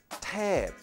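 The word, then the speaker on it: เทพ: Finally, there is a Popan, or P sound at the end. This final word is Thep, or angel.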